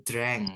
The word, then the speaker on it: drank: drink jadi banyaah bacanya bukan drun tapi drank ya drank Dr drank Jadi kalau aku minum